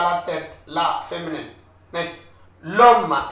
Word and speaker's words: l'homme: L'homme, whenever it's an apostrophe, you have to link it up. Liaison. You should not say l'homme. It is l'homme.